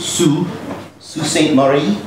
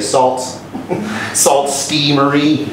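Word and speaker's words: Sault Ste. Marie: about um if you're not french that's called pronounced sioux st marie right um so you can tell a tourist because they'll say salt salt steamery something like that it's a twin city uh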